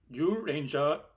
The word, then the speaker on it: Zyuranger: Well, it's written as Kyoryu Sentai Zyuranger. Zyuranger, but I'm gonna say the way it's pronounced.